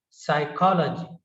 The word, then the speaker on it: psychology: Next is psychology, psychology. P is silent and the pronunciation is psychology and the spelling is psychology, psychology, psychology.